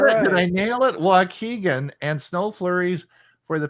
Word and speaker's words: Waukegan: careful JJ from Waukegan how did I do Waukegan she said it right did I get it did I nail it Waukegan and snow flurries for the past two days